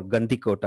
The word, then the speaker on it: Gandikota: C but if you do a Google for Gandhi Kota and it's spelled g a n d i k o